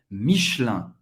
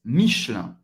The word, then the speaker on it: Michelin: Pronunciado rápido em francês nativo seria Michelin. O E desaparece. Michelin. Michelin, Michelin, Michelin. IN em francês, mais uma vez, o som do 1.